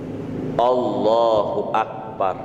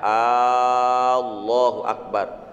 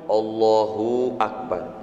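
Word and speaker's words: الله أكبر: Jangan memperpanjang suara pendek. "Allahu Akbar." Itu tidak dihitung. Jangan ucapkan bunyi 'b' terlalu panjang. "Allahu Akbar." Jangan menambahkan bunyi 'waw ' seperti "Allahu Wakar." Jangan menambahkan 'waw' yang tidak diucapkan seperti "Allahu Wakbar."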